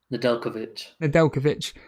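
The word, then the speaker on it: Nedeljković: How do you pronounce it, Ray? Nedeljkovic.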